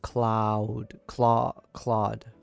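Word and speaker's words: Claude: It's pronounced Cloud.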